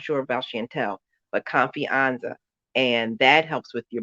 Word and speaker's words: confianza: Confianza. Confianza. Confianza. CO, right, CON, F as in Frank, IANZA. Confianza. Oh, like fiance, almost kind of.